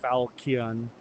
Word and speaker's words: falchion: Falchion. Falchion. Some people pronounce it with a hard K like Falchion.